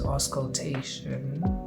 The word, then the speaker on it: auscultation: And palpation, as well as auscultation. I always butcher that word when I try and pronounce it.